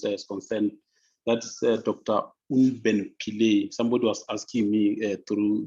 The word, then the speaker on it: Pillay: No, the pronunciation is perfect. It's Unben Pillay.